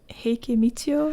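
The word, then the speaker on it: 平家みちよ: Is it Heike Michio or whatever her name is?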